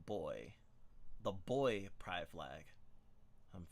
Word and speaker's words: BXY: The BXY pride flag, pronounced like boy.